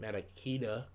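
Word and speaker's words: Ntilikina: we did trade for Kevin Knox and Frank maraquita that's how you say it and yeah we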